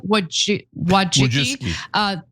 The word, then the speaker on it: Wojcicki: But anyway, so Anne Wojcicki.